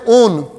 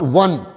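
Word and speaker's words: -one: It will be pronounced as on, not one.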